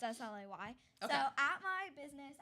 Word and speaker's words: Slay: And I said slay. And so now it's Slay Crochet. there you go. Yep. So at my business, Is it like sleigh, SLEIGH, or SLAY? SLAY. Okay, I figured as Like- much.